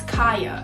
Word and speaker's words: Kaya: It's Kaya. It's not Kia, it's not Kai, it's not none of that other stuff.